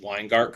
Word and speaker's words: Weingart: First off, I just want to say I'm very impressed that you pronounced Weingart correctly and Cuisine de l'Apocalypse.